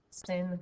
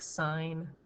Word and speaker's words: sin: a bit, to be sin, cos, and tan. Even though it looks like it's pronounced sin, cos, and tan, please say it like sine, cosine, and tangent.